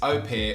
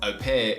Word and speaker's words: au pair: essentially a parent but the way you do pronounce it is au pair although if you haven't noticed i say au pair a lot and i just can't bring myself to say au pair but au pair is the way you're supposed to say it